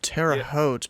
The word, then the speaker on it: Terre Haute: Can you pronounce the name of this airport? Terre Haute? It's Terre Haute, but you'd call the controllers Hulman, just like